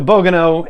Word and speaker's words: Bogano: So we're back to Bogano, and that's how you say it.